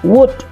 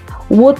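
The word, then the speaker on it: would: dalam kurung do something Bacanya jangan walk Bacanya jangan Luwuk elne tidak dibaca l-nya samar wood wood you like me to Contoh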